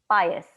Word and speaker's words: pious: PIOUS को पायस. Okay, how डू you pronounce it?